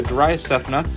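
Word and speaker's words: Darayus Sethna: tab just find my name it's darius uh darya cephna it's spelled d-a-r-a-y-u-s-s-e-t-h-n-a once you uh click on my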